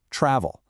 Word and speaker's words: travel: In American English, we put the stress on the first syllable, travel.